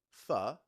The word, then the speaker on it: pho: The pronunciation pho has led to some great business names like For Real, For Sure, and maybe there's one called For the Love of Vietnam in honor of its birthplace.